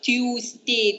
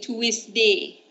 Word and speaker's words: Tuesday: Not Tuesday, Tuesday. Tuesday. Okay?